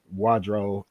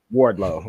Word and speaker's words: Wardlow: like the fact that wadro um I say his name wrong way Wardlow I don't know why